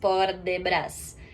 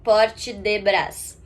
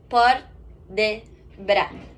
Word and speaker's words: port de bras: algumas outras palavras também, ele não pronuncia o S no final, como a gente acabou de falar anteriormente. É bra, não brás. Não é brás, port de bras. E nem porte de bras.